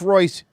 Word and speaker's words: Royce: voice Gracie over here it's pronounced Royce you Brazilian [ __